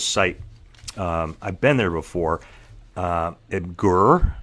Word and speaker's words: Imgur: Imgur is how you say it.